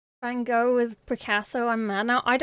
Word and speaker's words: Van Gogh: Van Gogh. There you go. For the Dutch pronunciation.